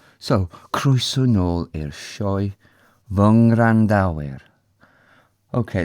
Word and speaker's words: Ngwrandawyr: Okay, the easiest way of saying these, even though I've just said it wrong a couple of times, is these v, which means my, and then the nasal after it.